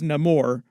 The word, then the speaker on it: Namor: my enemies call me Namor he pronounces it a little bit differently himself like he says no more just because they're changing